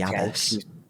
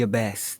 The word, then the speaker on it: abbess: She was like the abbess. The abyss. The abyss. Yeah, because Tom Baker kept pronouncing it abyss.